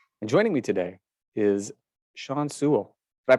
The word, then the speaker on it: Sean Sewell: hebrew hammer salkin and joining me today is sean sewell did i pronounce that correctly yes sir sean sewell i thought i did i'm usually pretty good